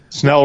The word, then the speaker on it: Snell: of the carries but Snell rhymes with smell for a reason what